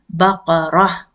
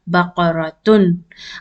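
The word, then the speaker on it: بقرة: How will you pronounce when it is at the end? Baqarah. You will not pronounce as baqaratun until and unless you want to continue reading.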